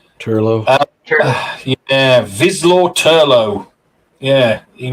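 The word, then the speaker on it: Turlough: Turlo.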